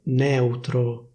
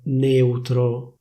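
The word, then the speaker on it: neutro: Next, people from Milano don't say, for example, /nèutro/, but they say /néutro/. They don't say /èuro/, they say /éuro/. So, well, as you can see, the standard pronunciation would require an open /è/, but in Milan these words are pronounced with a close /é/.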